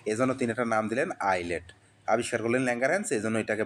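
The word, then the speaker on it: islet: আই এস এলইটি এটার উচ্চারণ কিন্তু আইলেট। এখানে এস এর উচ্চারণ হয় না।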